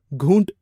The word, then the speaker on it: घूंट: जैसे पैग की जगह आपने पैग बोला, घूंट की जगह घूट, और बाद में एक और शब्द था जिसके जहाँ पे ज का इशू था, नज़र था आई थिंक सो. हाँ, तो नज़र है.